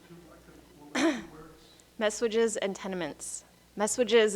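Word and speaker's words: messuages: words messages and tenaments messages is a very weird word it's like almost spelled like massages M SS u a g s messages I had to practice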